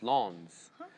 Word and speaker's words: Lens: the city lens wrong it's pronounced Lawns s smooth 1j sorry